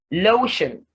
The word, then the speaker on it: lotion: mean the second syllable lotion lotion so you have low being stressed and shunned not stressed and it's taken the